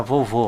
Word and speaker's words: vovô: veja aqui a palavra Vovô olha aqui ó tem duas sílabas Então vou usar esses dois espaços aqui ó Vovô olha sílaba tônica de vovô é a última vizinha eu vou usar